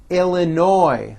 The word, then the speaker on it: Illinois: florida georgia hawaii idaho illinois the final s is silent indiana iowa kansas kentucky